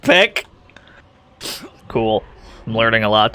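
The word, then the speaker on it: Baek: say it is it it's pack is pronounced Peck cool I'm learning a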